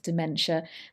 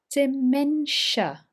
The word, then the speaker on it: dementia: a j sound and here dementia dementia note this i is missing from our pronunciation dimension measure dementia okay